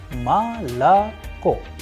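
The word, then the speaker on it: молоко: For example, the word malaco which is also known as milk is pronounced as malco because o is not under stress is going to turn into a sound of a.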